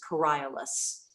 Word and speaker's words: Coriolanus: But the Latin pronunciation is Coriolanus.